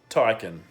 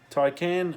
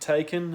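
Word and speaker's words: Taycan: against Tesla the Porsche Taikan that's apparently how it's pronounced as in toy can ty can not taken as it's spelt I wanna knows perception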